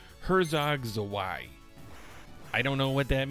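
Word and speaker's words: Herzog Zwei: So in case you were wondering, it's pronounced Herzog Zawai.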